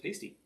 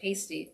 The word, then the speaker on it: pasty: That's actually pronounced pasty, as a matter of fact. Pasty. Oh, Cornish sorry. Pasty.